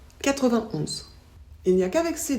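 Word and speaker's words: quatre-vingt-onze: On ne prononce pas le « et » ici. On dit 81, 91.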